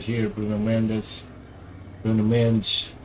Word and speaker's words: Bruno: Bruno. That's how you pronounce it. Pronounce it in Portuguese.